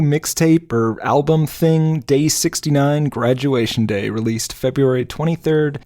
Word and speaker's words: 6ix9ine: and I are gonna 69 - I heard that right no you didn't do any of that right I was worried this would happen we're talking about 6-9 as it's pronounced formally Takeshi 6-9 formerly